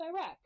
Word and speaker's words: Uruk: And fun fact, when I looked at pronunciations, Uruk in some pronunciations is pronounced Iraq.